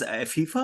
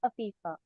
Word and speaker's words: Afifa: Do you pronounce your name as FIFA, or is there a better pronunciation? It's Afifa. Afifa.